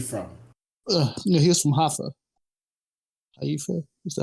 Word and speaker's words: Haifa: Haifa? Is that how you pronounce it? Haifa.